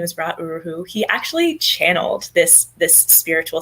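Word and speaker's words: Ra Uru Hu: And I can tell you that I did I think there's the founder, I can't pronounce his name. Yes. Ra Uruhu. Okay, Ra Uruhu.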